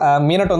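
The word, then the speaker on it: ミナト: அது வந்து மீனட்டோ இல்ல ப்ரோ, மினாட்டோ ப்ரோ, காகஷி ப்ரோ, மதரா ப்ரோ அப்படின்றாங்க.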